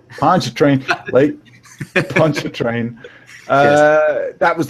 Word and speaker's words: Pontchartrain: Pontchartrain. Pontchartrain.